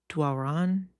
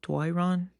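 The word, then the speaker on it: Doiron: d o i r o n Dwalron? Dwa- Dwoiron?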